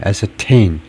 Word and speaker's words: ascertain: ascertain, 이쪽에 이제 primary accent가 이쪽에 그 주된 액센트가 있고 앞에는 secondary 아주 잠깐 모음 발음만 하고 ascertain이라고 읽어야 된다. meaning to find out or determine something with certainty.